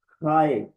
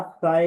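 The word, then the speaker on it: χ: तो ये दोनों तरह से प्रोनाउंस हो सकता है फी या फाय। और इसको फी या खाए। ये जो स्मॉल एक्स है ये ग्रीक में यूनानी जबान में फी है या खाय है।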